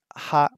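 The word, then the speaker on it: は: First Column here in the H column that ha is pronounced sometimes it's pronounced what wa so if you say I uhi as a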